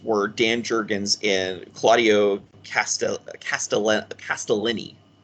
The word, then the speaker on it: Castellini: And the artists were Dan Jurgens and Claudio Castellini. It's pronounced Castellini.